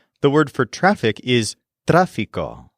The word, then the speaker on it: tráfico: The word for traffic is tráfico, spelled Trafico with an accent on the A.